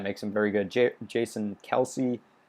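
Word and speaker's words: Kelce: him very good jason kelsey kels i guess as that's apparently travis kelsey said travis kels said apparently that's how you say it now um but jason kelsey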